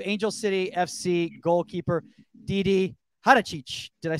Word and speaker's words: Haračić: Before we do the intro right here, DiDi, I just want to make sure your the proper pronunciation for your last name is Haračić. Haračić.